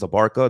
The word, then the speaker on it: Abarca: My last name is Abarca. That's how you pronounce it. Abarca.